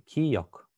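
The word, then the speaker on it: 기역: Киёк. Киёк. Если посмотреть на произношение, здесь мы видим два звука. Г и К.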